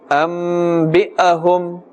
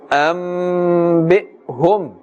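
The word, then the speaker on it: أنبئهم: We must not put too much of emphasis on this. Otherwise, it will sound as if we are pronouncing a fatha. We are putting a fatha on this hamza. Do not say ambi'ahum. A slight jerking of the hamza.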